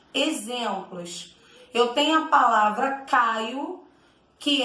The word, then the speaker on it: Caio: eu tenho a palavra caio que é um substantivo próprio o nome de uma pessoa quando pronuncio a palavra caio parece que é com u no final só que é com o na hora de eu